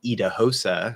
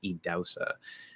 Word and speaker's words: Idahosa: It's spelled Idahosa, and it looks like Idahosa. That's how you would think to pronounce it. And it's like, oh, I would never guess that it's pronounced Idausa.